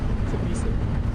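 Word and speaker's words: Tshepiso: Tebiso. So his full name is Tebiso, and that would be spelled? T-S-H-E-P-I-S-O. Say it again. T-S-H-E-P-I-S-O. T-S-H-E-P-I-S-O. Tebiso.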